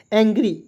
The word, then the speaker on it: angry: एंग्री, AN तो पढ़ेंगे एंग, GRY को पढ़ेंगे दोस्तों, GR को पढ़ते हैं ग्र और अंतिम में वाई है तो इसका उच्चारण बड़ी ई के रूप में करेंगे, ठीक है जी।